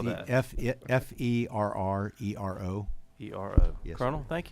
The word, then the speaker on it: Ferrero: To the right, I have Colonel Ferraro, who's also a lawyer and works with the National Guard as a legislative liaison. Colonel? Certainly. And, what's your last name? My name was Ferrero. Spell that. F-E-R-R-E-R-O.